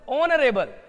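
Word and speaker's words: honorable: Our prime minister is ऑनरेबल lady, है ना, prime minister, sorry, principal ऑनरेबल lady, तो ऑनरेबल का उच्चारण देखो, ऑनरेबल, तो ओ से उच्चारण होता है, आराम से हम लोग एन का यूज करेंगे यहाँ पे।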